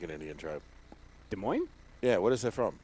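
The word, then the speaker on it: Des Moines: sound French cuz it's you say De Moine but it's spelled Des mois don't say that in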